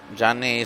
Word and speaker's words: Gianni: Gianni is the diminutive for Giovanni, by the way. Somebody was asking me why I pronounce it differently from the way it's spelled. Well, it's the diminutive, as I was saying.